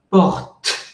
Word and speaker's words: porte: Y como es troisième personne du singulier, es tercera persona del singular, entonces il porte. Imagino que hasta ustedes llega esa explosión. Parce que le E no se prononce pas.